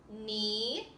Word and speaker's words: knee: The set of words here has a silent K at the beginning. Knot, knee, and knob.